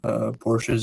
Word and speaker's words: Porsche: um we right now porsche is actually technically the correct pronunciation but all the other